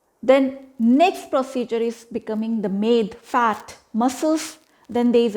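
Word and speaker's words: meda: Med, M-E-D-A, med, which called fat.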